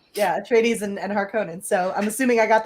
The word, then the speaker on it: Harkonnen: dune because of house atreides and the house harkonnen rival in the books good job on the pronunciation thanks i feel like you're being sarcastic